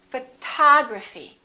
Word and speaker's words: photography: how about this one we stress the second syllable we say photography this o also is reduced and also becomes this symbol a photography photography repeat